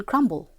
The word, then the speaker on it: crumble: For example, in crumb, the B remains silent, but it makes itself heard in crumble.